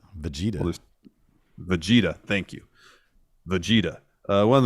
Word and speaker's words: Vegeta: The correct pronunciation. Vegeta.